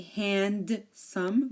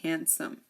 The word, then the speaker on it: handsome: handkerchief we have handsome we don't say handome we say handsome handsome the D is silent here we have sandwich